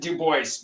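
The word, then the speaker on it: Du Bois: writer and activist w.e.b dubois dubois he actually pronounced it dubois because like robert henry he was one of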